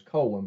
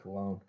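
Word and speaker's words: Colón: earlier I said that Ernie Colon's last name was Colin but that's I think he pronounces it cologne this number eight covered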